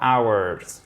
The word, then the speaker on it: hours: So, 1 to 4 hours. Yeah. Without, we do not, you do not, you cannot, guys, pronounce the H here. C'est une des rares exceptions, le H ne se prononce pas.